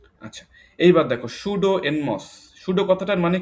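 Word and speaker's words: pseudo: খুঁজতে চাচ্ছি ক্লিয়ার সবাই আচ্ছা এইবার দেখ সুডো এনমস সুডো কথাটার মানে কি পিএসই ইউডিও এখানে পিটা কিন্তু উজ থাকবে উচ্চারণ হবে না সুডো উচ্চারণ হবে পি এসই ইউডিও সুডো সুডো কথাটার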